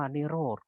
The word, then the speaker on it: นิโรธ: สาม ก็ คือ นิโรธ อัน นี้ อ่าน ว่า นิโรธ ก็ คือ ความ ดับ